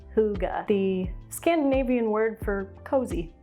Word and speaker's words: hygge: world for the last couple of years it's pronounced hygge the scandinavian word for cozy i guess and this is the hygge yarn from red heart first impression is that